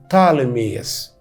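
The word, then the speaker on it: Ptolemy: اللغات الاجنبيه الحديثه دلوقتي وانت بتتكلم انجليزي يقولوا عليه طالميس البي الاولانيه عشان حرفين ساكنين في الاول فما ننطقش البي الاولانيه 305 قبل الميلاد اتاسست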